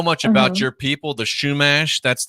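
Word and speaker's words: Chumash: I didn't know much about your people, the Shumash. That's how you pronounce it, right?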